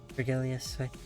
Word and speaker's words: Virgilius: There's pronouncing of the hard G, right? Virgilius, they'd like to know the destination.